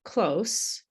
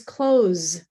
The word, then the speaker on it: close: But actually, when I say it as a native English speaker, I say the monster is close and please close the door. You might notice a difference between these two sounds. The first one is close and the second one is clothes. Sorry, clothes. Um, and and it's the final sound that's different.